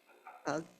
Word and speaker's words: UGG: Can I say UGG? UGG, like hug?